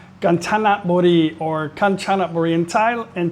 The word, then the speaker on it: Kanchanaburi: And today I'm going to be your tour guide to the area called Kanchanaburi or Kanchanaburi in Thai in Thai language. It's pronounced Kanchanaburi.